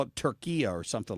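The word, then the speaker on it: Türkiye: And that if that's more the way they pronounce it in Turkish. And they wanted the announcers in the U.S. to start calling it Turkiya or Turkiya. Or what is it, Drew? Am I saying it wrong? I don't know, because it's different if you get a British announcer versus U.S. I don't know. They've spelled it Turkiya instead of just calling it Turkey.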